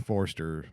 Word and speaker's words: Forster: make a quick correction it was not William forer it was Robert Forster for for Jackie Brown my apologies on getting Mr forer's name wrong Forster man Love Hurts is the movie Love Hurts